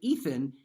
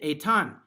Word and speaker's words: Ethan: And because of their family background, they don't pronounce it Ethan, he pronounces it Etan.